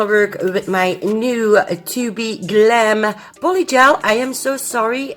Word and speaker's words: tobe Glam: So I also want to work with my new tobe Glam polygel. I am so sorry, in my unboxing video I was pronouncing it wrong all the time, but it is tobe Glam, okay? Tobe Glam.